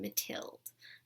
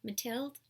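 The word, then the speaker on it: Mathilde: main characters Lotto and mathild I think that's how it's pronounced it's a ma th I el de mathild that's how I'm going to say it anyway the novel is broken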